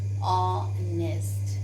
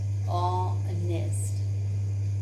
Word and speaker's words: honest: Honest. Honest. And now children, the sound come is of O, and hence we use an honest man.